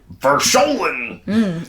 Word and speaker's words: Verschollen: So it is Verschollen. It's like Oklahoma. Yes, right.